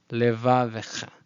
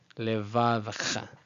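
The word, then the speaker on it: לְבָבְךָ: So both shva in this word they're both audible, so I can just put a little e and an apostrophe and finish off the word. Levavecha, levavecha, levavecha.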